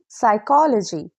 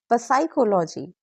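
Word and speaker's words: psychology: एस और पी N don't pronounce पी सो वी से साइकोलॉजी नॉट प साइकोलॉजी pneumonia not पनिममोनिया ignore the पी very common exam mistake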